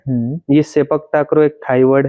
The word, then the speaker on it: sepak takraw: अच्छा तो ये सर सेपक टोकरा के बारे में बताइए। मैं प्रोनाउंसिएशन सही कर रहा हूं इसका। सेपक टाकरो। सेपक टाकरो।